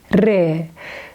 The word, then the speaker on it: ر: Re is exactly the same sound with R in English, but we pronounce re with more pressure.